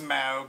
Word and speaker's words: Smaug: pronounced Smaug. It makes you like Grey Poupon. Do you have any Smaug?